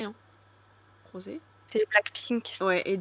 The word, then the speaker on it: Rosé: C'est parce que je sais que dans le groupe tu as Lisa Rosé ou Rose ? Rosé hein. Rosé c'est Black Pink.